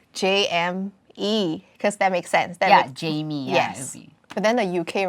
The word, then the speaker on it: J.M3: Yes. Yeah, pronounced Jamie. So I don't even know where to start.